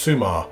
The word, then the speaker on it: Summa: So it says, it's summertime at Summa Beach, pronounced Summa.